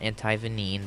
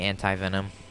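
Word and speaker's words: antivenin: front of my face you can call it antivenom but I call it anti venine that's the exact that's the correct way to say it most people say antivenom they're wrong but anyway not any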